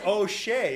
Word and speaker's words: Hosea: But it's O'Shea. It's spelled the same way, Hosea.